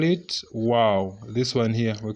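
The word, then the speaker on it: واو: So when you are pronouncing it, you pronounce like this, wow. Like that. It's just like a flabbergastement. You're just like surprised, wow, something like that.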